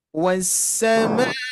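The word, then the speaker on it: والسماء: Kalau kita lihat dari segi tanda fathah, ini biasanya ada ya, sebagian peserta ini dibacanya panjang karena ada fathah bertemu alif. Ya, padahal di sini kan alif lam ma'rifat yang tadi ya. Ma'rifat itu ini termasuk hamzah wasl. Jadi bukan termasuk alif ini ya.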